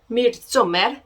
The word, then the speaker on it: Midsommar: We have Tusk, The Hills Have Eyes, Midsommar, I think it's pronounced.